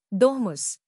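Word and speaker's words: domus: इन big houses called डोमस pronounced डोमस they had gardens कॉटयार्ड्स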